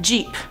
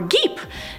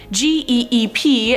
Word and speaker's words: geep: But let's move on to number 5, Jeep, or Geep. No, I'm not talking about the car Jeep, this is about G-E-E-P, and I was probably right the second time saying it's a Geep.